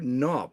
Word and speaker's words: NAWP: Welcome to NOP. We do pronounce it, not at AWP.